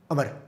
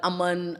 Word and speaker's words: Amar: अब आप एक बार लेके बताएं क्या है मेरा नाम? अमर। अमर, आप बिल्कुल ठीक मेरा नाम प्रोनाउंस तेजी से करें। बोलो। लेकिन अभी तक बहुत से लोग हैं अमर, अमन, तो आई एम now used to इट।